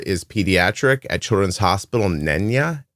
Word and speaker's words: Neenah: It looks like Paola is pediatric at Children's Hospital Neenah, Neenay, NAH, Wisconsin.